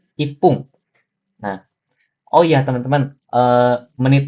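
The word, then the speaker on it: 一分: 1 menit ini bukan icipung ya teman-teman, tapi ipung. Nah, oh iya teman-teman, menit di sini sebenarnya pakai fun, cuman untuk beberapa kalimat, beberapa ketentuan yang seperti ipung atau sampung itu pakai pung ya teman-teman.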